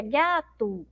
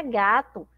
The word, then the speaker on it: gato: A gente não pronuncia aí gato, não é verdade? A gente pronuncia gato, então parece que tem um U. Mas, na verdade, a palavra gato, nós escrevemos, ó, com a letra O.